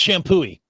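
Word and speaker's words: Champoeg: Oh, it's Shampooey. Don't even look at the last couple of letters.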